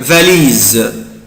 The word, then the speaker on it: valise: انا بنطق حرف الاس زد عشان جايبين حرفين اتنين فويل او حرفين اتنين متحركين هو لا لتر اي ولا لتر او.